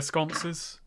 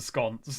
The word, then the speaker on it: sconce: bigger picture of the sconce there we go okay I don't know that term I knew that term oh it's a bit of a weird one because it rhymes with nonce so you just kind